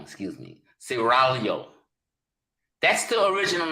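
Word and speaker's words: Seraglio: it was called the guardian of saragalo saragalo pronounce it cerralio gotta roll the tongue excuse me siralio that's the original name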